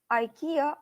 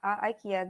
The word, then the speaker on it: Ikea: one Yahoo Samsung and Ikea or Ikea again Ikea this is uh uh more English variant and Ikea this is more Swedish original variant of pronunciation so let's start with